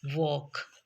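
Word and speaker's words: walk: इसी तरह से जब एल के बाद एफ आए तो एल की आवाज साइलेंट हो जाती है और यह अगले कंसोनेंट की आवाज प्रोड्यूस करता है कोई भी कंसोनेंट हो जैसे कि वॉक जैसे कि टॉक जैसे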